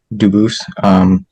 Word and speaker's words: Dubus: I am Anthony Edward Dubus. Dubus is the English pronunciation. Dubus is the original French.